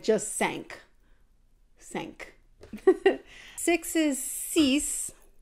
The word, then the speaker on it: six: sank sink six is cease kind of like cease and like to cease and desist seven is set and